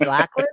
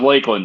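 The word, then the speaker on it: Lakland: thing above the a so that you pronounce it like a long a now robert you've been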